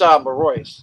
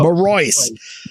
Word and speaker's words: Marois: It's Marois. You were close. Marois.